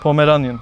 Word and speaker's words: Pomeranian: Şimdi elimizde tuttuğumuz köpeğin cinsi Pomeranian. Pomeranian Bow dedikleri. Evet, Bow dedikleri köpek. Ama doğru telaffuzu Pomeranian.